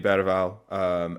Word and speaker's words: Bergwijn: Yeah, for me, it's going to be Bergwijn. Apparently, that's how you're supposed to pronounce his name.